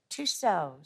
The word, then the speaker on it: Tussauds: Tussauds. Tussauds. The French leave off a couple letters at the end of each word.